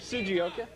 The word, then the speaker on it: Sugioka: How do you pronounce it? Pronounce it for us. Sugioka. Sugioka. Sugioka is the real pronunciation.